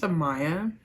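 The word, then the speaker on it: Amiah: so first off my name my name is Amaya um and it's spelled a-m-i-a-h everybody usually just calls me Maya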